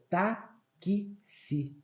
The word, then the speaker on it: táxi: Só que a gente pronuncia taxi, sabe? É como se fosse ó, esse KS aqui ó, do que si, tá vendo? Taxi. Então, esse som do X,